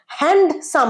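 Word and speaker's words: handsome: লোকটা কি হ্যান্ডসাম না এই ডিটা সাইলেন্ট কি হবে আই হ্যান্ডসাম আমার সাথে একজন সুপুরুষের দেখা হয়েছে সুন্দর দেখতে লোকের দেখা হয়েছে হ্যান্ডসাম নয় ডিটা সাইলেন্ট হ্যান্ডসাম হ্যান্ডসাম বল আমার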